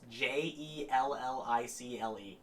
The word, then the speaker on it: Jellicle: It's Jellicle. I thought it was like Jellicle as in Angelical. You just remove an. Yikes.